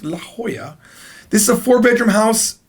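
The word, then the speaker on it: La Jolla: is a house in La Hoya apparently it's pronounced La Hoya it's written as laola but it's pronounced La Hoya this is a four-bedroom house that goes for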